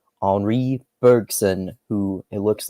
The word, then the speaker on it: Henri Bergson: We're going to talk about Deleuze's thoughts on, I'm going to try to say his name in the French way here, Henri Bergson, who it looks like